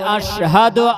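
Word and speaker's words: أشهد: আল্লাহু আকবার আল্লাহু আকবার আল্লাহু আকবার আমরা বলি আশহাদু আল্লাহ ইলাহা ইল্লাল্লাহ তাই না এখানে বড় সিন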